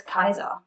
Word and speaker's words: Caesar: you can see that julius caesar must be turning in his grave every time we say julius caesar because really we should say his name julius kaiser but they're just some